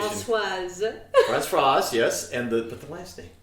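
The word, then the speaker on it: Françoise: Give me the French pronunciation. Francoise.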